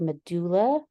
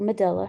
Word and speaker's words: medulla: always going to be your medulla or Medela however you want to pronounce it and the lighter stuff